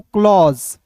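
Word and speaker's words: close: आपको जब भी अंतिम में एस ई दिखेगा तो आप याद रखिएगा कि इ जो है साइलेंट होता है और एस का उच्चारण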